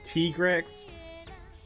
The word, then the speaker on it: Tigrex: anything i know that the official pronunciation is apparently t-grix but you know i just prefer to call it tigrex because tiger x just sounds better to me okay she wants